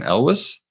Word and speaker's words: Elwes: How do you pronounce his last name? Elwes.